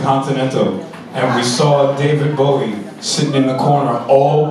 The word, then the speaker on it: Bowie: David when he said Bowie cuz that's how they say it in England he's David Boe he barfed he went